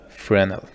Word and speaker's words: Fresnel: to your overlay material and here search for frenel it's spelled f r e s n l then